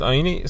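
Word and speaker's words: עני: The Gemara says, well, what does Rabbi Kiva do with the fact that it is pronounced oini? It is spelled ani, but it's pronounced oini.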